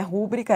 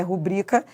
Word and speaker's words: rubrica: Pronúncia correta não é rúbrica, é rubrica.